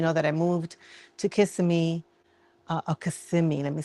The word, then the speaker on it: Kissimmee: So I finally found a cardiologist because if you've been following me, you know that I moved to Kissimmee, let me say it right, Kissimmee.